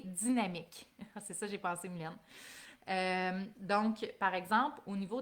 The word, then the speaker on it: Mylène: C'est vraiment, ça s'écrit comme ça se prononce, M-Y-L-N, Mylène.